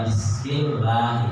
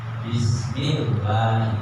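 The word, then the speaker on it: بِسْمِ اللهِ: wfdul jalalah Allah membaca Bismillahi harus ada tasdhnya tidak boleh menghilangkan tasdh di situ kalau tasdid yang hilang itu seperti contoh bacaannya adalah Bismillah enggak ada tasd jadi harus diembacanya Bismillahi dengan tas yang kedua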